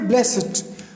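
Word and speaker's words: blessed: Okay, ये termination ed in adjective is almost always pronounced ed. जब ये adjective के एंड में आता है, एडजेक्टिव के एंड में, तो ये डी की जगह इट प्रोनाउंस होता है.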